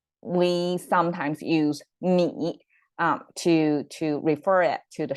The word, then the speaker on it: 米: We often use this 米, it pronounced as 米.